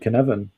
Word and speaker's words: Cynefin: I start with Cynefin, the correct pronunciation, and I just explain complexity to whoever's, and they get to see.